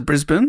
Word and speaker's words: Brisbane: We actually pronounce it Brisbane.